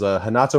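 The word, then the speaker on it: Renato: that start with RS a lot of them will be pronounced with a h they're Brazilian and that's just kind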